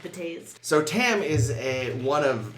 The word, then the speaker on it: Betazed: That's actually, I believe it's pronounced betazed.